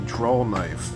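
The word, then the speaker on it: drawknife: tool is called a draw knife because you draw it towards your yourself with a W not with an L at the end how I pronounced it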